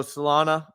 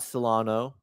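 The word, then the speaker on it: Solana: not you it's me so salana not Solano formerly known as Solano on the live streams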